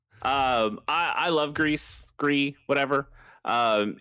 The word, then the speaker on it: Gris: take it away yeah which I also think we're mispronouncing I think it's supposed to just be gree but oh yeah because it's isn't the French word for grief is that what that is